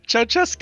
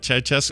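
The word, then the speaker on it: Ceaușescu: Ceausescu. Is that how you say it? Ceausescu.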